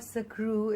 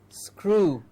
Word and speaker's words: screw: of course the crew it is not sakru it is screw yes everybody please say it with us screw screws screw okay yeah okay the